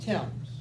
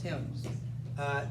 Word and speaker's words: Thames: So think of the word T-I-M with an S on it, Thames.